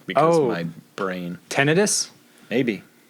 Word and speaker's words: tinnitus: tinnitus? Maybe. That's how it's pronounced. Tinnitus.